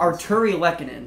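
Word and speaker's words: Artturi Lehkonen: The good thing about this one is you can sound it out. It is pretty much how it is spelled. Arturi Lehkonen.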